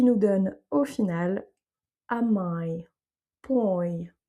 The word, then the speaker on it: mãe: A mãe, donc là on a le ai comme si on avait mãe qui maille.